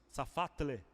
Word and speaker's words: Safatle: wladmir essa farsa fat essa pronúncia safatle é um nome complicado né trava-língua lá de